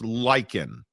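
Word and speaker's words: Lyken: L-Y-K-E-N is pronounced Lycan.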